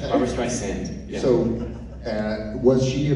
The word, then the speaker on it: Barbra: let you do just say her name correctly barbara streisand barbra so uh was she